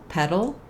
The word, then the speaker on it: petal: petal petal and pedal so you probably noticed that all three of these words have the same pronunciation even though they have different meanings and different spellings that's because in the middle of words uh the letters T and D if they're followed by an unstressed syllable are pronounced as a flap sound and that can be